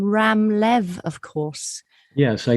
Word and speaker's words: Ram: with it's pronounced a ram a ram as if it were ROM but it's spelled r